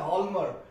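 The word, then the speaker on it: Hjalmar: नाम द लमर शकट देखिए स्पेलिंग आपको अलग देखने को मिलेगी एच जे ए एल एम ए आर लमर इसको बोलते हैं लमर और शकट एस सी एच ए सी एच टी शकट लमर शाक प्रोनंसिएशन है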